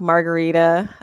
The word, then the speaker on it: Margari: And just a little, my name is pronounced with a hard G, so like Margarita. But I go by Margari also. I'll answer to anything but margarine.